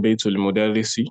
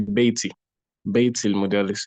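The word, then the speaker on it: بيتُ المدرسِ: For example, somebody may say that instead of saying baitul mudarrisi, they will say baitil mudarrisi.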